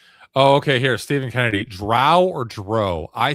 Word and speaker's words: drow: You either say it like cow or you say it like snow.